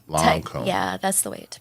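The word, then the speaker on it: Lancôme: It's Lancome. Lancome. Yeah, that's the way to pronounce it.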